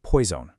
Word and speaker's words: poison: But then there's poison. Notice that little buzzing Z sound? Poison.